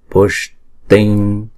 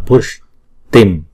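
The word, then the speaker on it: puṣṭiṃ: Tare tuttare ture pushting. Đứng một mình thì chữ này đọc là pushtim, nhưng mà theo sau nó là một chữ cờ thì chúng ta đọc chữ anuswara này chuyển thành chữ ng.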